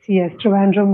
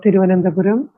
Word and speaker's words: Trivandrum: Yes, Trivandrum or Thiruvananthapuram.